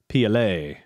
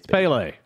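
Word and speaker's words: Pelé: not even gonna try they were pronouncing it uh pla yeah pla pla or something like that and I'm like you got what the hell is wrong with you shut up right it's Pele shut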